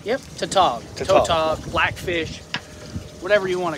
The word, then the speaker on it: tautog: Tautog? I said it right? Yep, Tautog.